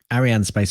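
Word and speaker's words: Arianespace: the name of it it's Arianne spice that's all it is Ariane space a French company that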